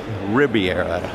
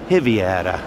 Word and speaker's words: Ribeira: one would think it's Riviera but in fact it's heavy a de and the the the the B is pronounced like a V I believe so nonetheless